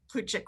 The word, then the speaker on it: Plutchik: 99 sure that's how you say it the plutchik wheel and we gave you a link to